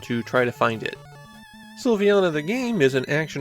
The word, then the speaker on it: Silviana: we be pretty confident how it should be pronounced sylvana but is that first vowel an i or